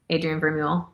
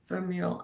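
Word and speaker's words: Vermeule: Is that how you pronounce it? Adrien Vermule, yeah. Vermule.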